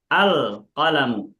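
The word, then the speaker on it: القلم: Alif lam ketemu huruf qof ditampakkan bunyi lamnya alqalamu.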